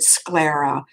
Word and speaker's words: sclera: heavy sclera is and when you pronounce the word sclera the S sounds and the C s CL e ra it is thick and